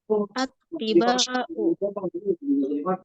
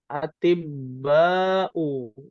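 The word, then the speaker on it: أطباء: Jangan. Ulaika attiba'u. Ya, atibba'u. Ya. Ulaika atibba'u. Tabibun, dia jamaknya adalah jamak taksir.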